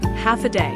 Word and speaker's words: Hafa Adai: In Guam we often see and hear a Chamorro phrase "Hafa Adai" (pronounced as half a day).